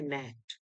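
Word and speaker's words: gnat: जैसे यहाँ जी एन ए टी है, तो हम लोग इसे पढ़ेंगे नेट, लड़ाकू विमान. साइकोलॉजी में क्या हो रहा है कि पी इज साइलेंट, साइकोलॉजी.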